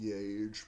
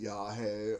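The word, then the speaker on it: yagé: It was spelled like yage. I always thought it was called yage, but in the movie they call it yahe or anheusa.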